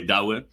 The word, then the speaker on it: Douwe: So how you actually pronounce my name is Douwe, as in Dow Jones. Oh, sorry. Or if you want to do it the Dutch way, Douwe.